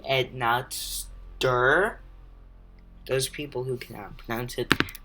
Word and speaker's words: Enotsder: off a Napster uh in case you don't know i pronounce it it's actually add not stir those people who cannot